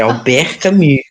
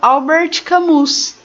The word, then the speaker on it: Albert Camus: É Albert Camus. Aham. Não, mas porque. Igual, por exemplo, eu já vi muitas pessoas falando Albert Camus, né?